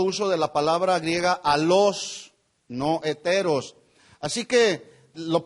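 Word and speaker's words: allos: otro totalmente diferente y otra palabra del griego que es alos con doble L y acento en la o que significa otro de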